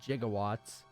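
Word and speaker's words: gigawatts: 1.21 nice 1.21 gaw or as they said in that movie jigawatts they didn't know how it's supposed to be pronounced back then there's no one in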